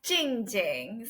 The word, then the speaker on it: Jingjing: Yeah, I tend to tell people phonetically it's same as gold or sparkly. But actually it's, so normally I tell people, right? So you know the capital city in China, Beijing, right? Yep. Drop Bei, double Jing.